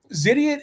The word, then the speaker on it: Zidiot: Zidiot explained to me that's how you pronounce. Just say idiot with a Z.